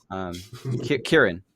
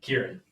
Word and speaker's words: Ciaran: So, the guy on the left, I remember it starts with a K, although I saw on the website it starts with a C, the letter C, but it's a hard C. It is. Ciaran.